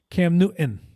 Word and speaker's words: Newton: I was so excited about Cameron Newton that as Jermaine Wiggins says, Cam Newton. Newton. There's a T in his name. Pronounce it.